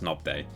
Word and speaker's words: Nobday: not no no BJ nope day Norman nope day pronounced knob they see plummy gifted a